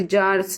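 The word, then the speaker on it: czars: The headquarters of Russian government, formerly the palace of कजार्स, sorry जार्स, इसमें सी silent होता है तो ये जार्स होता है।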